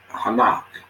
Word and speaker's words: Enoch: Not forget about that picture there, but this is the book of Enoch, pronounced Hanach in Hebrew.